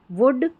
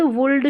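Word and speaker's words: would: फिर है OULD को उड़ करके पढ़ेंगे, जैसे कुड, वुड, शुड। अब इसको कुल्ड, वुल्ड, शुड ना पढ़ें, तो कुड, वुड, शुड, क्योंकि L जो है ना इसमें साइलेंट है, ठीक है।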